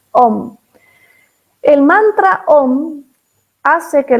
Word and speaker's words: om: aún no sé a algunos le escriben aún pero se pronuncia om el mantra om hace